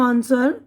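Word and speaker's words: answer: अब यहाँ पर देखिए डब्लू की आवाज़ साइलेंट है। तो देखिए ये रॉन्ग है, वह रॉन्ग नहीं पढ़ेंगे, रॉन्ग। इसी तरह आंसर जवाब, रॉन्ग गलत, स्वॉर्ड तलवार, ठीक है।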